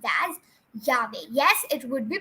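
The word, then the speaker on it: llave: And whoever thought it would be lave, it's wrong. And whoever thought it would be Yahweh, it is right.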